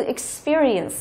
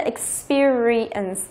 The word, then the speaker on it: experience: Tiếp theo chúng ta có từ experience đúng không? Experience, từ này trọng âm, từ này có 4 âm tiết là experience và trọng âm chính của từ sẽ rơi vào âm thứ hai.